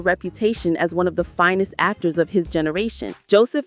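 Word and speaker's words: Fiennes: It's pronounced Rafe Fines and Joseph Fines, but most Americans mispronounce Ralph as Ralph, which makes the connection even less obvious.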